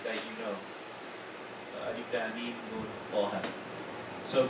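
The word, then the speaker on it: ألف: You read it alif, you don't say ah or no, alif.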